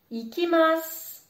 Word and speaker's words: ikimasu: Ikimasu. Si tu regardes bien, je ne prononce pas le U qui se situe à la fin de mon mot. Je dis bien ikimasu.